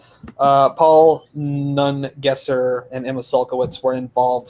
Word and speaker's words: Nungesser: I keep wanting to say his name is Negresson for some reason. Paul Nungesser and Emma Sulkowicz were involved for some amount of time.